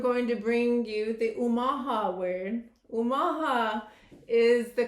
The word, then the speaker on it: Omaha: And of course, I'm going to bring you the Omaha word. Omaha is the correct pronunciation of Omaha, where we're located, Omaha, Nebraska.